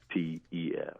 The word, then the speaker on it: Yeates: Something I've struggled with as a Yeates and a Yeates and all those other different pronunciations. But yes, it's Yeates.